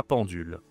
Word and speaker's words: pendule: La pendule attention à prononciation nasale en la pendule.